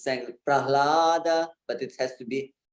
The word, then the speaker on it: Prahlada: So it's sometimes it's sang Prahlada, but it has to be Prahlada. So pra is also a heavy syllable, and you have to give it some time. You have to give it some weight.